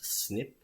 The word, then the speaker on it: SNP: du nom jusequen anglais il appelle ça SNP ça se prononce snip mais en français c'est